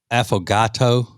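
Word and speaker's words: affogato: I think it's pronounced uh, aphagato.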